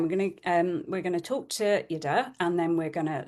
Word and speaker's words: Jette: Lise Hansen and myself, specialising in nutrition, of course, and Yida, who it doesn't look like that's how you say it, but that's how you say it.